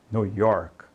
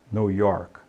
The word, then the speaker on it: New York: diga coke coke Ok nova Y não diga New York né então Note que termina em k e não coloca esse I no final então é York New York tá e você vai